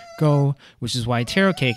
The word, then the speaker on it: 糕: Taro cake is pronounced wu tou go in Cantonese. The words for cake and hai share the same pronunciation, go, which is why taro cake and other cake